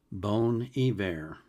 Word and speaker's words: Bon Iver: And Joseph was kind enough to give me the pronunciation of the artist. It's bone e and the name of the song is spacide.